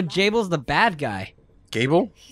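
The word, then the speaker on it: Gebel: is the bad guy gable no it's pronounced Jabil she said table yeah it's a table what the no it said gable the first to the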